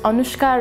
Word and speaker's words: Anushka: lot of russian because anushka rhymes with babushka and babushka apparently are